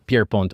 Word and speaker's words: Pierrepoint: Es un apellido francés. Así que primero que nada lo voy a pronunciar Pierre Pond. Su nombre obviamente es como Pier Pond, así es como se diría, pero yo voy a decir Pier Pont porque así lo decían los británicos.